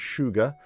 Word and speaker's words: Suga: I'm just looking at it now, Ride or Die, but it's Suga, I think, but the way they pronounce it is Sugar or Sugar.